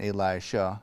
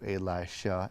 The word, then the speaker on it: Elisha: familiar with these characters there's Elijah with a J and Elisha with an sh um and I will